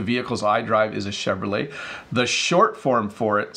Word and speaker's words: Chevrolet: a company called Chevrolet this could be a hard word to pronounce for English speakers because you want to say the T but you don't say it so its Chevrolet so this is the